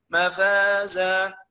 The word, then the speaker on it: مفازا: نقف بمد عوض تعوض بفتحه بالف، اقصد تعوض بالف، نسميها ايه؟ مفازا، تمام؟ مد العوض هيجي ان شاء الله موقف. ولكن نطقها ازاي؟ إن للمتقين مفازا حدائق وأعنابا.